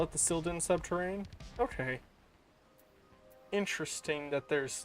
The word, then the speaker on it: Sil'dihn: oh because it is it is the subterrain of silda therefore making it the sil din yeah yeah yep yep